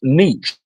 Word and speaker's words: niche: I said it's pronounced niche.